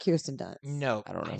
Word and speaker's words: Kirsten Dunst: In addition to Dushku, here's some other people: Natalie Portman, Sarah Michelle Gellar, Kristen Durst. Am I saying that right? Kristen, like Kirsten Dunst. Kirsten Kirsten Dunst. Dunst.